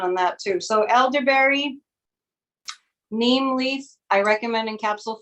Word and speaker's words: neem: It's spelled N like Nancy, EEM like Mary, neem.